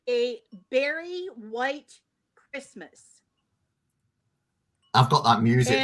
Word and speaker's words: Berry White: oh mama says barry white or barry white it's berry white yes actually it